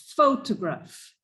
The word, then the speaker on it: photograph: very good okay so the stress of that word is on the first syllable photograph okay but if we